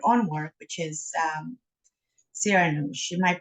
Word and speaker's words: Siranoush: involved with your own work which is um sarah she am i pronouncing it correctly you are yes not a